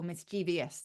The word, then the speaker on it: mischievous: um in meaning so one word that's definitely on the move from a sound perspective is mischievous which um certainly in Britain people are beginning to pronounce as either mischievous or misch devious they're putting another I in there um I think the